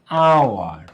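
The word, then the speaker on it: hour: হ্যাঁ, যেমন অ্যান আওয়ার, an honest.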